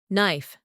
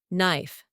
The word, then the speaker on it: knife: to guess which one knife knife knife also like no knock in this situation as you probably noticed we have silent letter K there are more words